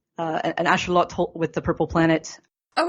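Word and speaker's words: axolotl: I believe so uh the x is an sh sound and the TL is a with the uh tongue at the Ro of the mouth at least in classical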